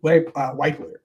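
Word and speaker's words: Wypler: Luke Weipler. Is it Weipler or Whippler? I think it's Weipler.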